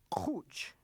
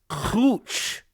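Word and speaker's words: quch: Be sure to pronounce the word for forehead correctly. Uhhuh. It is cooch. It's cooch. I gotta have a guttural clooch. The sound is annoying as far back in your throat as you can go.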